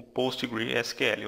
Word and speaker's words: PostgreSQL: pertence a Oracle, e o PostgreSQL, ou Postgres, depende aí de como você deseja pronunciar.